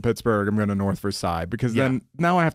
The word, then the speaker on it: Versailles: It very much is Versailles. That is how it should be pronounced. But when I'm talking to Pittsburghers, I say Versailles.